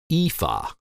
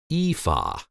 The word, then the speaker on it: Aoife: name you'll see that the a and o are silent and the name is simply pronounced EA EA pretty basic now that you know once more EA EA we'll see you